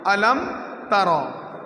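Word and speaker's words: أَلَمْ تَرَ: প্রথম আলাম তার, আলাম তার, রটাকে পুর করে পড়তে হবে, কারণ রয়ের আগের হরফ যদি জবর হয় সে রকে পুর করে পড়তে হয়, মোটা করে পড়তে হয়।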